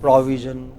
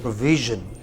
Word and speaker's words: provision: Well, a lot of people said provision. They said pro. They took it to the initial syllable, and then they say we. It's not we. It is V. It is provision.